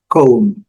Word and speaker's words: comb: E o pente, mesma coisa, com a combinação MB, combinação MB, B não é pronunciado, e então, cone.